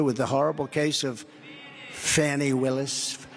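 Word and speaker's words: Fani: the horrible case of Fannie Willis. It's actually pronounced Fannie. It's F-A-N-I, but you pronounce it Fannie, a little French accent there.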